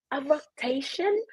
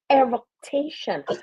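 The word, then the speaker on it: eructation: ma'am nobody would say a roation oh you said it wrong it's really eration nobody unless you're in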